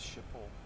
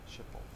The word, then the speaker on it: Schiphol: Clem 1210, contact Schiphol approach on 118.08.